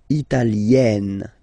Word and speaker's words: Italienne: Remember, when you get this E followed by a double consonant like here, then you will have to open it. Italienne, Italienne.